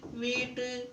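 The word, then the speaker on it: wheat: हुआ है H silent जब भी किसी शब्द में सी या डब्लू के बाद एच आए तो एच साइलेंट होता है केमिस्ट क्रिस्मस क्राइस्ट वीट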